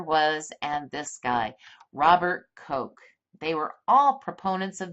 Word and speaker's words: Koch: his name is robert koch if you were german you'd pronounce it Koch so he lived about